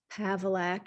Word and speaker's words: Pavlak: My last name is Pavlak. It does rhyme with Cadillac.